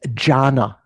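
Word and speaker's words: jhāna: In Pali, the word dhyana is pronounced jhana.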